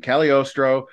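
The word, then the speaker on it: Cagliostro: it up to make sure I got the pronunciation right caliostro uh was a famous magician and Alchemist so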